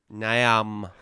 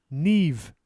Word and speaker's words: Niamh: Do you want me to tell you? Yes. Neve. Neve. There's no V. Niamh. Neve. Oh, it's an H.